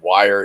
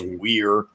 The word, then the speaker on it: Weir: Some people accidentally mispronounce his name as Ted Wire. It's not. It's Weir.